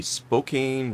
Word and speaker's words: Spokane: We're heading to the, I guess, slightly northwest, coming up along the Spokane River.